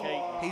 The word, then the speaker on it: Catton: Yeah, it's Mays, Tatum, and they pronounced him Catton, but around Sevier County we call that Caton.